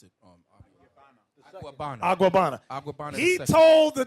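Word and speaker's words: Agüeybaná: How you pronounce it? Aguabana.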